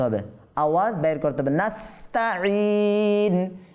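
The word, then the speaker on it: نستعين: নাস্তাঈন, ঈন। অনেকে বলে নাস্তাঈন, নাস্তাঈন বললে কি হবে? ঈন থেকে ইন বললে আইন থেকে হামজাতে পরিবর্তন হয়ে গিয়েছে, তার মানে এটাকে নাস্তাঈন বলা যাবে না।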